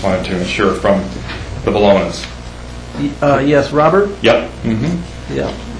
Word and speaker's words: Bologna: I just wanted to ensure from the Bolognas.